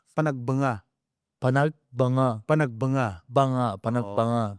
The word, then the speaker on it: Panagbenga: Panagbenga. Oo. Panagbenga. Pag agag sa mga Pilipino ganon iung pag-pronounce panagbenga. Pero agag yung talagang katutubong pagpronounce panagbanga.